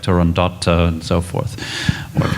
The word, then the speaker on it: Turandot: is it seems that puccini and his circle as they were riding this opera called it turando so i guess in a way they own the title they have the copyright well the dallas opera we had a long discussion on this topic and we decided for sake of consistency we all agreed to say toronto but i think part